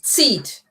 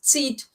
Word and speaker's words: zieht: Der Schmerz zieht. It's a Z. It's a bit like a TS pronunciation. Der Schmerz zieht bis in meinen Nacken.